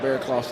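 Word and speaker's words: Barraclough: I will say, the pronunciation guide also does make it clear, Terrell Bearclough.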